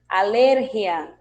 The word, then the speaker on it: alergia: Em espanhol vamos ter alergia.